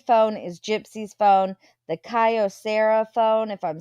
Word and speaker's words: Kyocera: Kyocera is how you say out the phone name.